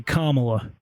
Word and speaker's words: Kamala: time pronouncing her name do you know how to say her name correctly Kamala so it's actually Kamala Okie doie and and